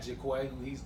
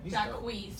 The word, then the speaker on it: Jacquees: And he got Jaquay, was that how you say his name? Jacquees.